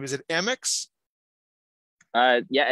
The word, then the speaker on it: Amyx: And I just wanted to clarify, is it the pronunciation of your last name, is it Amyx? Yeah, it's actually Amyx. Think of like A and then M-I-X, Amyx.